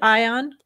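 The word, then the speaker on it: Aion: You look at Ion. Do you pronounce it Ion?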